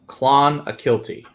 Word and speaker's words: Clonakilty: Can you spell it phonetically? Okay, so Donald says it's Clonakilty.